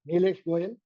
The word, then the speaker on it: Neelesh Goyal: Nlesh Goyel. Am I pronouncing your name correct? Nesh Goyel.